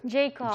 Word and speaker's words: Jacob: You have four girls and you have how do you pronounce Jacoba or Jacob? Jacob.